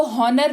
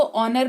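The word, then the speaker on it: honour: हा ओ एन ओ आर इसको हॉनर नहीं इसको ऑनर पढ़ेंगे सिंपल सी बात है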